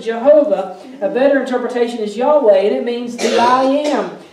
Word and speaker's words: Yahweh: they have known his name for years it's Yahweh we pronounce it Jehovah a better interpretation is Yahweh that means that I am the ever existing